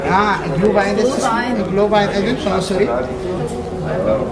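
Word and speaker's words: Glühwein: you order Adrian I ordered how do you pronounce that how said glue Vine ah GL Vine GL Vine sry it's m mold wine mold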